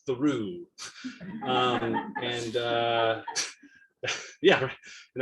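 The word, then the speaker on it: Thoreau: Um, and there's a town there called Thorough, pronounced Thoru.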